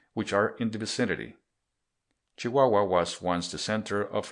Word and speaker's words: Chihuahua: If we had come into Mexico by the Central Railway, we would have passed through the state of Chihuahua, pronounced Chihuahua, but we wouldn't have seen much, as the